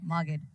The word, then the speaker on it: Magid: Oh, I like how you pronounce it. Magid. That's the correct way.